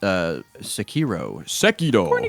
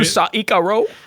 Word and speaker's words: Sekiro: Did you play the new Saikaro? Yeah, Sekiro.